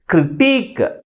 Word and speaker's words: critique: Critique, critique. That's why the primary stress is on the last syllable.